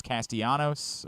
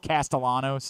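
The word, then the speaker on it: Castellanos: Boston College is named Thomas castanos or I think it's actually castalanos is how he pronounces it and assigned to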